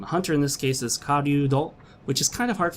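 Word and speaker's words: 狩人: Hunter in this case is karyudo, which is kind of hard for me to say because it's ryu, which is a sound that doesn't exist in English language.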